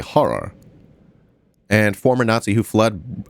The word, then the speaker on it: Heinrich Harrer: They say Heinrich Harrer. How do you say it? An Austrian mountaineer. Harrer. It's probably horror.